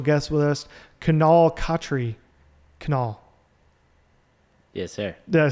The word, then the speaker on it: Kunal: Kunal.